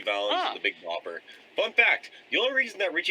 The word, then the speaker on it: Valens: of years ago so making it making phelan's like the widest way he can possibly pronounce his last name yeah which for a mexican kid is kind of bad yeah well because valens was short for venezuela but no it's richie valance the big bopper fun